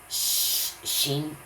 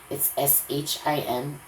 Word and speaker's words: Shin: I think that's why they called this letter this, Shein. And I don't know why they spell it like this, SCHIN. When I see it, it's SHIN. But it's sh sound.